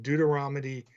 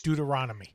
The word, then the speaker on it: Deuteronomy: Uh, so of course I, you know, I had to look this up, but it's from Deuteromy. Deuteronomy, uh, all nonsense. Deuteronomy.